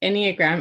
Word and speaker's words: Enneagram: right well let's dive in what is the anagram and I'm might not even be pronouncing it properly so like correct me um